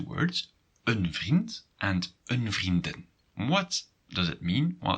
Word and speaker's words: vriendin: And if you have issues with pronunciation, it might be quite tricky to make the distinction between vriendin, female friend, and vrienden, friends. So pay attention to that. It's vrienden and vriendin.